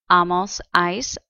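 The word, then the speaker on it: -áis: have ar verb endings ice on remember the vosotros is pronounced like an ice pack or a cup of ice and then we have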